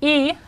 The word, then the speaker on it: y: Two other little words that you should know are E, pronounced like this, which means and O, which means or.